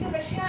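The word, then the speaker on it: Tsar: इसमें टी और सी जो होता है दैट कीप्स ऑन साइलेंट, वो साइलेंट रहता है।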